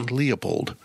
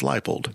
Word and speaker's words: Leipold: they introduced him and I didn't realize his name is spelled Lei p o l d instead of l i e leapold so it's lipold we're going to talk